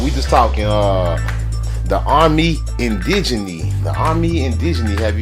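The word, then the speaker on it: Armée Indigène: ever heard of the army indigeny hello that's how they say it that's how the French like to see it right salute ume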